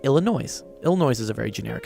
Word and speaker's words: Illinois: in Illinois it is Illinois the S is silent but they say Illinois